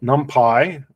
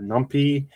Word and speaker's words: NumPy: So NumPy or NumPy, however you want to pronounce it, does a lot of numerical type things, right?